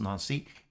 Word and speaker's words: Nancy: together in nazi friends spelled nancy pronounced nancy and they begin working